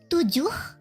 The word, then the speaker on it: tujuh: And then for 7, it's tujuh. Oh, tujuh. Yeah, you have to breathe out the H.